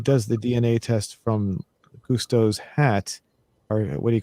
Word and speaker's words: Gusteau: How do you pronounce the guy who originally owned the restaurant? Gusto? Gusto.